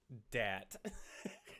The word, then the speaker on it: Dyat: plural dishoni adjective dat it's spelled t-a-t d-y-a-t okay um yeah what